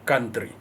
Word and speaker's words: country: The OU, that one is not supposed to be OU as it appears. It's supposed to be country. Then as you explain the pronunciation, the C sounds like K. The OU sounds as one vowel, not country, as is common in South African pronunciation.